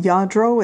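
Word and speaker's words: Lladró: it's Spanish it's usually I think correctly pronouncing Lladro it's ll a dr o this particular figurine is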